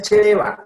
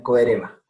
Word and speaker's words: Coereba: No es chereba, aunque yo durante muchos años dije chereba, porque mirando en el diccionario de la SAO encontré que es una palabra tupí, o sea, aborigen de los indígenas del oriente de Sudamérica. Entonces ellos decían coereba.